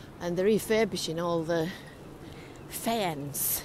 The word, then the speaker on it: faience: And they're refurbishing all the faience, it's called. This creamy coloured tile is a sort of a specialist building product, and it's called faience, F-A-I-E NCE, I think is how you spell it.